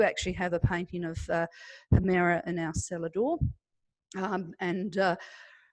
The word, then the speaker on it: Hemera: So we are pronounced Hemera.